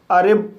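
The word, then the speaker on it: arrive: ए को आ पढ़ा जाएगा, डबल आर को रा पढ़ा जाएगा, आई को ई पढ़ा जाएगा, वी को वा पढ़ा जाएगा और ई साइलेंट रहेगा। इस तरह से अरिब पढ़ा जाएगा और अरिब मीन्स पहुँचना।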